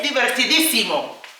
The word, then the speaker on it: divertidísimo: Es divertidísimo. Okay? Es di ver Remember divertido is fun. Diverti di Accent on the i, simo.